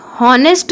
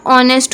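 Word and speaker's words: honest: is dash ऑनेस्ट ऑनेस्ट this word is नेस्ट नहीं होता ऑनेस्ट होता है इसको क्या पढ़ते हैं ऑनेस्ट नेस्ट नहीं पढ़ना ऑनेस्ट तो यह तो साइलेंट होगा ठीक है और हम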